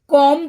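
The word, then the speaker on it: comb: कॉम पढ़ते हैं इसको, कॉम ब नहीं पढ़ते हैं, इसे कॉम पढ़ते हैं।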